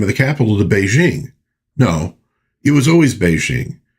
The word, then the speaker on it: Beijing: And then they changed the name of the capital to Beijing. No, it was always Beijing. In Wade Guiles, a P is pronounced as a B and a K is pronounced as a J.